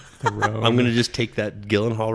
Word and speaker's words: Gyllenhaal: gonna just take that Gyllenhaal right back place it with the soft G like Julie Hall I think it's fun